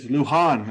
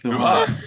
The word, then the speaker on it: Lohan: Is it Lohan or Lohan, or how do we pronounce her name? Anybody know? I thought it's Lohan. I have no Lohan, idea. okay. We'll say Lohan. It's fine. No, it's Luhan. It's Luhan. Luhan.